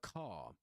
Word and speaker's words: car: So this is uh the car.